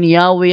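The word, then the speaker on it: Yahweh: while inclining to view the pronunciation yahwe as the more correct Alam mo yahwe more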